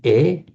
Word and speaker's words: est: Those of you who know French will know he is il est. This is French. Written as est, but pronounced just e in French.